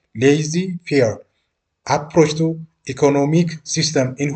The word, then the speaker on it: laissez-faire: He advocates the laissez-faire, pronounced laissez-faire, approach to economic system in which argued the economic unfair of society are best guided by the decision of individuals.